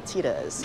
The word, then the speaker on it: Thyda's: I mispronounced it and said Thyda's, but it's actually Thyda's.